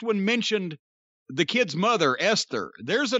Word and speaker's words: Esther: Esther. All right. How else do you pronounce it? Oh, Aunt Esther. The H is silent in Esther.